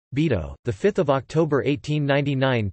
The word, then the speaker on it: Bidault: Georges Augustin Bidault, French pronunciation, Bidault, the 5th of October 1899 to the 27th of January 1983, was a French politician.